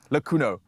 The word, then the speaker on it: Lakuno: Yes, three absolute queens here to share insights about the locally produced, in-house pet food brand, Lakuno. I got it correctly, is that how I pronounce it?